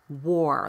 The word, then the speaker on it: wore: To make it even more confusing, war, as in civil war, and the past tense of wear, wore, like I wore that coat yesterday, are pronounced exactly the same way.